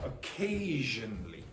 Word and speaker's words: occasionally: So one of these is strong, that one. Occasionally.